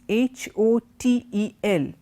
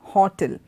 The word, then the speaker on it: hotel: H o te l remember this is not Horton the stress does not come on that first word H oh it's not hot L it's hotel hotel it goes up in that T and E Hotel okay and among the